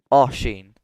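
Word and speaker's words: Oisín: So, how do you pronounce Oshin? Like I keep getting told I'm wrong. Oin. So, imagine it was O S H E N. Oen Asheen.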